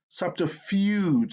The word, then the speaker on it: subterfuge: like y u bugle subterfuge like almost like a yu again fyu fuge but it's not fyu it's fuge when you hear that